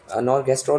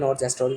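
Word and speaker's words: norgestrel: नॉर्गेस्ट्रोल भी बोलते हैं, नॉर्जेस्ट्रोल भी बोलते हैं, तो प्रोनाउंसिएशन में थोड़ी सी दिक्कत है, ठीक है।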